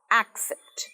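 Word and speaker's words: accept: কোনো কিছু গ্রহণ করা, অ্যাকসেপ্ট। অ্যাকসেপ্ট, অ্যাকসেপ্ট নয়, একে দেখো স্ট্রেস বা জোরটা পড়ছে, অ্যাকসেপ্ট, অ্যাকসেপ্ট।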